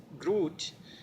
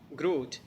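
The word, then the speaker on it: грудь: from the chest and the word is Groot Groot GRU deep soft sign so it doesn't end in a consonant it doesn't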